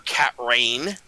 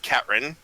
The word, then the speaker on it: Catrin: The baker's name is Catrin, or Catrain, but it's Catrin. It's spelled Catrain.